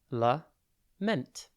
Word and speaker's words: lament: time today's word is lament it's pronounced le ment and it is spelt l a m e n t think la and then meant the word lament can